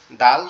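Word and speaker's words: د: দালটা হচ্ছে আমাদের জিহ্বার আগা, এই আগা, সামনের, দাঁতের সাথে, সামনের উপরের যে দুইটা দাঁত আছে, সামনের উপরের যে দুইটা দাঁত আছে এই দাঁতের গোড়ার সঙ্গে, অর্থাৎ এই জি, সামনের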